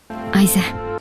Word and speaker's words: Eisen: The second E in Eisen, for example, is not typically pronounced in normal speech, and even in careful enunciated speech, the vowel wouldn't be an E.